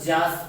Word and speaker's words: Yaas: ठीक है, इसको जास प्रोनाउंसिएट करते हैं।